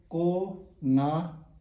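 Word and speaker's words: རྐང: अब काको माथि रा लेखेको छ भने उच्चारणमा केही फरक पर्दैन भनेर तपाईँलाई यादै छ। र कत क ङ काङ, क ङ काङ र कत क ङ काङको उच्चारण चाहिँ एउटै हो। तर स्पेलिङमा यदि फरक पर्यो भने मतलब पनि भिन्दै भएर जान्छ। र कत क ङ काङ, माथिको चाहिँ साइलेन्ट।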